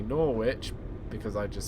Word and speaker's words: Norwich: kind of debate thing where I was say norit because I just say it because of my